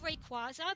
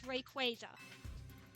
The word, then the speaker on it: Rayquaza: I nearly said Rayquaza because that's the way I grew up pronouncing it, but I've been trying to correct myself because I know officially it's Rayquaza.